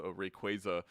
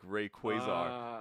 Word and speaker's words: Rayquaza: know it makes sense sounds wrong it sounds wrong but it makes sense because it's supposed to be quasar like rayquaza yeah that's why but